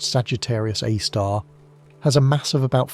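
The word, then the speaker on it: Sagittarius A*: The Milky Way's central black hole called Sagittarius A, pronounced Sagittarius A star, has a mass of about 4 million suns.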